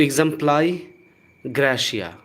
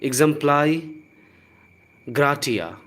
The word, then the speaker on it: exempli gratia: नहीं यहाँ पर, तो एग्जम्प्लाई ग्रेशिया या फिर एग्जम्प्लाई ग्राटिया, ग्राटिया भी इसे आप बोल सकते हैं। सो एग्जम्प्लाई ग्राटिया, एग्जम्प्लाई ग्रेशिया या फिर एग्जाम्पली ग्रेशिया, एग्जाम्पली ग्रेशिया, 3 तरह के प्रोनाउंसिएशन ध्यान रखिए।